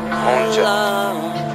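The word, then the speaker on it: 혼자: Hey, yo, Keith, how do you say alone in Korean? In Korean? Yeah. Honja. Honja.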